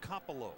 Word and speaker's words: Coppola: So Tracy's dad says the way they pronounce that name is Coppola.